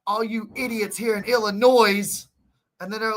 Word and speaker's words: Illinois: It's Illinois, idiot.